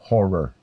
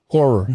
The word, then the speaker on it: horror: notice you have to make sure and pronounce both syllables of that word? Demonic? No, horror. Horror. Yeah, it's not a horror film.